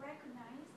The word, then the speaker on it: recognize: question yeah the word recognized i saw in the book okay let me take a look red could nice okay that's a mistake because that that word recognize has only got three syllables so please make a